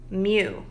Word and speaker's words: mu: It is mu. M-U is how you pronounce it, mu, and it is a Greek letter.